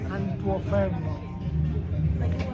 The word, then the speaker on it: Antuofermo: I am here with Vito Antuofermo. Did I pronounce that right? Right. The close I've ever seen pronounced something. It's pronounced Antuofermo.